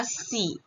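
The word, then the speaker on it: xi: Kemudian untuk yang X itu dibaca seperti huruf S. Yaitu dibaca Si.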